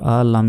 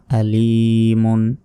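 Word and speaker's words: عليم: second টান মিম দুই আলিমুন থামলে এখানে তিন আলিফ টেনে পড়তে হবে আলিম এবং থামলে শেষ অক্ষরে সাকিন দিয়ে উচ্চারণ করতে হবে মিমের উপর সাকিন দিয়ে আলিমুন আলিম তারপর বা জির বি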